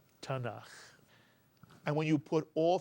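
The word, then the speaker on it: Tanakh: the Jewish Bible and the acronym is pronounced tanak tanak and when you put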